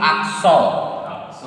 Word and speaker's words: accent: So here I am pronouncing on, and you know that te is generally silent in French. Te is generally silent at the end of French words. Okay, we don't pronounce te at the final position. So we are pronouncing accent, accent.